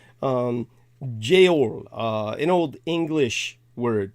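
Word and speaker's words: geōl: over the O um Jail uh in Old English word referring to Christmas uh but the G is pronounced like a y um now going further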